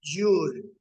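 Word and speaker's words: joule: se mide el trabajo mecánico se le llama jul se escribe jle pero se pronuncia jul y el símbolo en la letra j mayúscula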